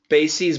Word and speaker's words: bases: So Sergey, the plural is bases, but the pronunciation is different. So basis plural is bases, and this base plural is bases. Okay, so base, this is really confusing. I hope it's not confusing for people. The word basis, the plural form is bases. The word base, the plural form is bases. The pronunciation is different. This is ease, and this is.